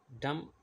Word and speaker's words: dumb: Wednesday D is silent dumb B is silent come B is silent